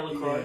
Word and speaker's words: LaCroix: Yeah, LaCroix.